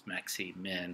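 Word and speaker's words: maximin: We'll go with maxi-min. That's not maximum. I didn't misspell it. It's maxi-min.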